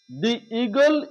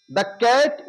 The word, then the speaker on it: the: আমাদের খেয়াল রাখা দরকার দি যখন আমাদের ভাওয়েলের আগে বসবে ভাওয়েলের আগে যখনই বসবে তখনই এটা হবে উচ্চারণ দি এবং যখনই কনসোনেন্টেরর আগে